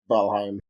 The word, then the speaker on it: Valheim: back and forth yeah so it's very much pronounced the way you say it and the way it's supposed to be said um valheim but who knows maybe